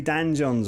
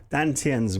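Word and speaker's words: Dantian: Stretching out the meridians, opening up the joints, getting the three Dan Jons, or in the Chinese way of pronouncing it, Dan Tiens, working your three treasures.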